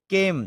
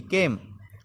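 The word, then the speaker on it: came: मतलब होता है पुरष केम तो इसमें ई गायब हो जाएगा ई मतलब साइलेंट हो जाएगा गायब होने का मतलब यहां पर साइलेंट हो रहा है तो इसमें ए को खींचा जाएगा ए भी स्वर है यानी कि वोवेल्स है और ई भी वोवेल्स है तो ई को खामोश करा जाएगा साइलेंट करा जाएगा और एक ही आवाज बोली जाएगी केम केम मतलब आया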